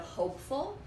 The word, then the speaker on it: hopeful: again that we have, the base word is hope, so I have a silent E that I'm not going to pronounce. The O is going to be long, and full, that would be another short vowel.